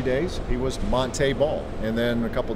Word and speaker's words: Montee: The only other real hard news here in Chicago has been Montee Ball's transition from Montee to Montee. That's what he would like to be called. That's the way he's always known his name to be pronounced, but it just sort